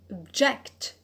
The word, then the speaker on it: object: The verb to object. Object. So where is the stress? The stress is on the alt, that is the last one, that is the first from the end.